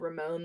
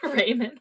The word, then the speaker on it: Ramon: I would have said Ramon the way that name is spelled, but Richard It's O'Brien did ramen. pronounce it Raymond.